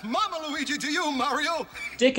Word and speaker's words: DIC: Luigi to you Mario dick entertainment pronounced like deck made a few animated